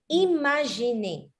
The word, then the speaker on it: imaginer: Normally, if the I is followed by an M and then a vowel, you say it as E and then imagine.